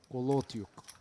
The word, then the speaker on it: Kolotiuk: but ace James, please, I help you with pronounce. Kulatiuk? Kolotiuk. Kulatiuk. Da. Kulatiuk.